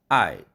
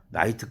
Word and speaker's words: night: 앞에서도 얘기했습니다만 night 밤이라는 단어가 있는데 night night 이중 모음이죠. 그런데 다 나이트 클럽 간다. 나이트 뛴다. 나이트 이 두 음절로 발음하고 있어요.